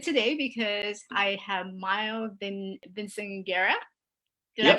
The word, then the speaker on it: Vinciguerra: I am excited today because I have Miles Vinciguerra. Did I Yep.